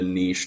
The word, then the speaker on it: niche: you do get a niche genre yeah it's pronounced Niche not Niche by the way um when